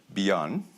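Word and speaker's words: BIEN: And he is an honorary co-president of the organization called Beyond. Is it correct in that pronunciation? Yes, Beyond.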